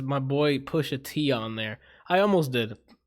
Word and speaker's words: Pusha T: You pronounced it wrong, Anthony. What did I say? Oh, it's Pushat instead of Yeah. Pusha T.